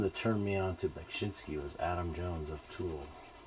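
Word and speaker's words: Beksiński: And then it's Bekshinsky, right? B with a K. Bekshinsky. I've heard Bekshinsky, and then most people pronounce it Beksinski.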